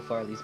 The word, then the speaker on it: Farley: Cobalt rhymes with good. Farley rhymes with evilly.